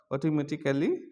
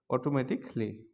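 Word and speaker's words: automatically: হচ্ছে অটোমেটিক লি অটোমেটিকলি অটোমেটিকলি এতদিন আমরা শিখেছিলাম অটোমেটিক্যালি এখন আমরা এটা বলবো অটোমেটিকলি অটোমেটিকলি আচ্ছা তারপর এতদিন আমরা শিখছিলাম স্পেসিফিক স্পেসিফিক্যালি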